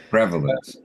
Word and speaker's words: prevalence: Accent sur la première syllabe. Prevalence.